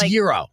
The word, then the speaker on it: gyro: I mean, how do you pronounce it? Gyro or gyro? I don't know, but I'm learning that It's gyro.